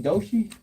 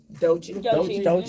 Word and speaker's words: Doechii: Doechii? Doechii.